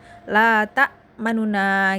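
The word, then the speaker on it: تأمنّا: La ta manuna gitu. la tak manuna nunnya agak cepat di dalam membacanya.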